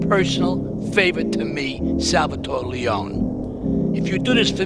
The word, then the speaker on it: Leone: were I mean they on leonin there he pronounces it Leone but it's going to be the only as